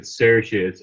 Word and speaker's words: Saoirse: the internet that you're supposed to pronounce it Saoirse, but Sair is free. Saor is free, so I pronounce it Saoirse. It's Saoirse. Trisha's eyes glazed over.